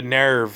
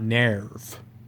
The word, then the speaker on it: NERV: don't like it's not nares that's not a thing Nair but is nothing it's nerve pronounce it nerve please and also there was